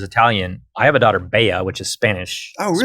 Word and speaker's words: bella: But in Spanish, 2 L's is its own letter. It's a Y sound. So it's spelled the same, but you say it. Bea.